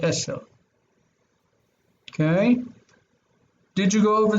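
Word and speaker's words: עשר: Notice that this is sin, eser, not esher, but eser.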